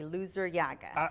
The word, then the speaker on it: Luzuriaga: And thank you for pronouncing the last name correctly, Lazuriaga.